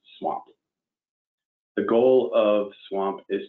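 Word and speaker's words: SWMP: nurs systemwide monitoring program or swamp pronounced swamp the goal of swamp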